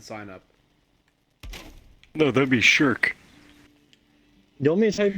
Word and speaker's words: Shrek: And we had a whole debate on how you actually pronounce Shrek. Turns out you pronounce it Shirk.